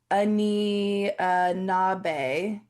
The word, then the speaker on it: Anishinaabe: pronounced Anishinaabe. Oh, okay. Oh, wait. Anishinaabe.